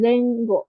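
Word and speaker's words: 前後: pakai yang zengo jadi bukan mae usiro atau mae ato tapi zengo pakai cara baca yang ini yang huruf katakananya.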